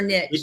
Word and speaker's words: niche: Niche or niche? Either works.